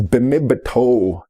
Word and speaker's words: bimibatoo: Bmiptoo, bimibatoo, mage bmiptoo, as we pronounce it around here, is bimibatoo, meaning to run along.